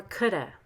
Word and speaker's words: could have: shark had been real could have or coulda should have or shoulda i could have done it